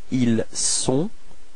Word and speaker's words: ils sont: Okay, so don't be afraid to pronounce this s quite strongly. Okay, so let's do it again. Ils sont.